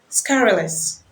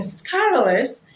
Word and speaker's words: scurrilous: the second word is scurrilous using low or root language in speaking against a person the U is scrutinize is pronounced as well you in scarlers is pronounced as a sound the essence of this